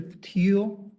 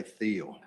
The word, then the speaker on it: Patil: and the vulnerabilities Mr patil Paul thank you for pronouncing my name properly a lot of people say Theo Theo teal teal you got it right all right we appreciate